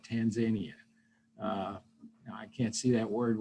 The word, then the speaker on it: Tanzania: the families affected tanzania i always want to mispronounce that word and one of our former ambassadorial scholars educated me that's tanzania not tanzania i can't see that